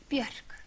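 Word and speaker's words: Björk: Is that, am I pronouncing it correctly? Bjork? Bjork.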